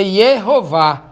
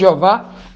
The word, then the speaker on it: Yehová: O termo correto seria Yehová, que alguns chamam de, os testemunhos de Jeová adaptaram para Jeová. Aí é que muda, né? Aí que muda completamente a pronúncia. Já aí não tem nada a ver com o nome original.